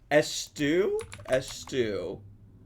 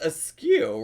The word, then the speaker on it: eschew: But now I feel like I need to eschew. I don't want to eschew bread. Eschew? Etsu? How would you pronounce, how do you spell it? Eskew? Is it ESCHEW? That's pronounced askew, right?